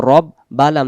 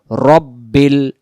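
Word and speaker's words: رَبِّ: আলহামদু লিল্লাহি রব যাব রব বা লাম জের বিল রব্বিল রাব্বিল হবে না রাব্বিল হবে না রব্বিল র র র এমন হবে রব্বিল আলহামদু লিল্লাহি রব্বিল আইন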